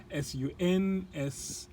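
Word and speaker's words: sunscald: Okay, that's how, I'm not sure how to pronounce that. It's sun scald, S-U-N-S-C-A-L-D, if I remember well.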